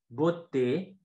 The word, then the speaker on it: beauté: One of those sounds is E, fermé, so the closed E, right? Par exemple, on a beauté, aimer, né. So beauty, beauté. Look, pay attention to my mouth. I pull my lips back and my mouth, it's not too open, right?